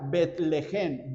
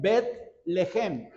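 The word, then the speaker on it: בית לחם: cosa muy significativa porque Belén en hebreo se pronuncia betlejem betlejem y la primera palabra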